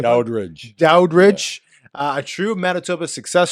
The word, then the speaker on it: Daudrich: I doubt if I'm rich.